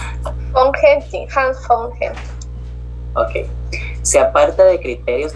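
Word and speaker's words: Hans von Hentig: Hans, ¿cómo se pronuncia? Von Henting, Hans von Henting.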